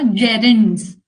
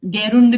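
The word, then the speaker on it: gerund: इसको बोलते हैं बेटा जेरंड्स। क्या बोलते हैं? जेरेंस। ये जी को ज प्रोनाउंस करोगे आप। गैरुंड नहीं बोलेगा कोई भी।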